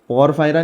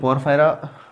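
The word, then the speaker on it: Porifera: एक ही कैटेगरी है पोरिफेरा प फायरा नहीं है प फरा वहा पर लगी में य पोरिफेरा है तो ध्यान में रखना परर फरा नहीं पोरिफेरा है यूमे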